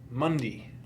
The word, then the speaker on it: Monday: that my instructor not he wouldn't pronounce it monday he'd pronounce it mundi mundi oh yeah tuesday wednesday